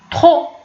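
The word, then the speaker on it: trop: الوغ كاين ترو، لا لاحظتي كاين هنا تي ار او بي، ولكن فاش غادي نطق بها انا كنقول ترو. يعني هاد بي هذا ما بانش في النطق فاش نطقت بيه.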